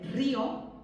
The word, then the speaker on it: río: O río con la fuerza en la O. Cuidado, con la fuerza en la O, pero sin tilde, porque es un monosílabo.